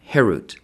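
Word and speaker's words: חֵרוּת: Do not pronounce it carved, harut, but rather freedom, herut, to show that they are freed from the angel of death.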